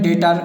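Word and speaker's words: debtor: वैसे इसमें डेटर, इसमें भी हमने बी को नहीं पढ़ा।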